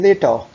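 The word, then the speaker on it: later: यहां भी आपने आर को प्रोनाउंस नहीं करना, सी यू लेटर, सी यू लेटर, सी यू लेटर, सी यू लेटर.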